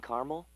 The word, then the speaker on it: caramel: The caramel, please. The what? I'd like it in caramel. Oh, the caramel? Yeah, that's what I said, Tina. Actually, you said caramel when it's pronounced caramel.